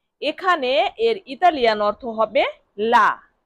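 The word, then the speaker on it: lì: তাহলে সেখানে এর ইতালিয়ান অর্থ হবে লি লি লি লি মানে সেখানে দেখুন এল আই লি এল আই এর উচ্চারণ কি হবে লি তাহলে লি মানে সেখানে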